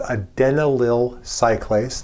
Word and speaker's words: adenylyl cyclase: Nearby the G protein is a membrane embedded enzyme, not a receptor, but an enzyme that's called adenylyl cyclase. That is actually the correct pronunciation, and it's also in the off state.